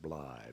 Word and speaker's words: Blythe: name was william jefferson bly b-l-y-t-h-e that line that rhymes with lie uh probably blytheville arkansas